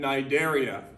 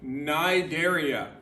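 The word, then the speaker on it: Cnidaria: part three periphera and nidaria nidaria you don't pronounce the C remember that it was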